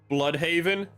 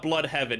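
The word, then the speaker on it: Blüdhaven: Yeah, it's not Blood Haven. It's blood haven, but it's spelled B L U with like the two dots over the U D and then Haven.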